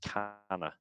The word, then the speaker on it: kaneh: So it's pronounced canna. It may look like it says cane, but it's pronounced canna.